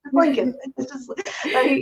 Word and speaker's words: Lincoln: but whenever he said Lincoln he always pronounced the second L it's like lincol it's like that's the one thing like you know Dad it's Lincoln know you always like